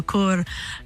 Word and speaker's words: cœur: I know, I heard that it's a bad word if you say it wrong, so it's like le cœur à la bouche. Otherwise, you say something else.